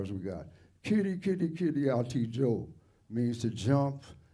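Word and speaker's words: Kiri: Kitty, kitty, kitty, Ati Joe means to jump and dance. Yeah, that's it. What is the pronunciation on that? Kitty, kitty. Like K-I-R-I. The I's are like double E.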